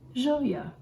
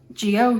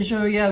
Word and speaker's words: Gioia: a new brand located in naples italy called zhouya most people probably want to pronounce it g-i-o-i-a geo yeah yeah if you watch the other joya video i went through a whole variation of